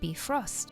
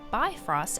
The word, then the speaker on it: Bifröst: It is missing an umlaut, and if you're not sure what that is, that's the 2 dots above the O vowel. Perhaps our pronunciation in-game is more Bifrost after all.